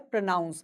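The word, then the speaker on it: pronounce: इसका वर्ब होता है प्रोनाउंस मतलब उच्चारण करना। पी आर ओ एन ओ यू एन सी ई। तो यहां पे वर्ब में एन ओ यू एन है। इसलिए इसको हम पढ़ते हैं प्रोनाउंस और वो नाउन है प्रोनाउंसिएशन।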